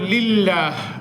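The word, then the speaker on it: لِلَّهِ: লামটা পড়া গেল লামটা কি পড়া গেল এরপর লিল্লাহ লিল্লাহ শব্দ এই লিল্লাহ লাম কি মোটা হবে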